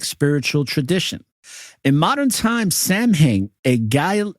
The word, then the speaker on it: Samhain: tradition in modern times Sam Heng a guy a Gaelic word pronounced Sam win is usually celebrated from